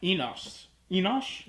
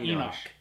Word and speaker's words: Enoch: who beget Enoch, and Oh yes, and they mispronounced Enoch. They called him said Enosh, or something? Enosh. Not Enoch. Yeah, that's incorrect.